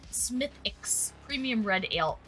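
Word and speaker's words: Smithwick's: Someone said I think it's Smith Wix, but someone said it's pronounced Smithix.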